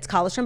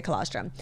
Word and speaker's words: colostrum: I feel like I say it wrong. It's colostrum, but I say colostrum.